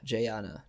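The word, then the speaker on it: Jaina: are born Jason and Jana Jana yeah Gianna Gianna I think is how you pronounce it but and it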